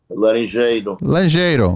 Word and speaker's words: Larenjeiro: Larenjeiro, because we want to go Portuguese.